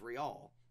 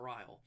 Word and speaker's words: Rial: Anyway, also, Monica's last name is Rial, not Ryle.